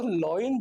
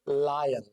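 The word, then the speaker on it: lion: है, रिक्वेस्ट है कि अगर कोई इसको लॉइन बोलता है तो प्लीज आई रिक्वेस्ट यू इसको लॉइन मत बोलना, दिस इज लायन। इसका सही प्रोनाउंसिएशन लायन होता है।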